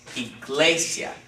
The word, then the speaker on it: iglesia: the second-to-last syllable so this is only one syllable it's not iglesia okay it's iglesia so this is where